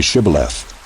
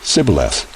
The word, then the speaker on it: Shibboleth: When he said, No, they said to him, Then say Shibboleth. And he said, Sibboleth, for he could not pronounce it right.